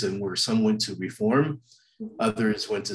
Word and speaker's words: Reform: was the reform movement people oftentimes mispronounce it and they add an ed to the end reformed and that's not truly accurate it's the reform movement of judaism there was an immediate